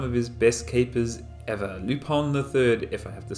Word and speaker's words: Lupin: who have been watching lupone because that's how it's pronounced in france i think but i'm not french so i probably got it wrong but it's not lupin it's lupone lupone the third greatest